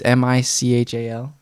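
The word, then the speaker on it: Michał: It's Michal. Like Michael? Yeah, but he's from Poland.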